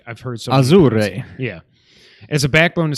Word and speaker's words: Azure: The service uses Microsoft's Azure, which everybody pronounces that wrong, which is hilarious because they don't actually deal with like infrastructure. Like I talk about Azure every day. It's Azure. It's not Azure or Azure.